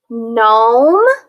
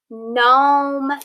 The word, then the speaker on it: gnome: to these words okay gnome sign gnome sign both of those have the m sound okay now when we have these um sounds um at the beginning another spelling for the m sound is g n and remember we code these digraphs we mark it with an arc and then we mark a line through that first consonant because it's silent and then we code